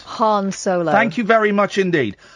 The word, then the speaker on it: Han Solo: culture who's that please Han Solo incorrect Han Solo thank you very much